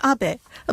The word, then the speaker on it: Abe: House my name is Abbot a but in the United States some people mistakenly pronounce my name is ape but that is not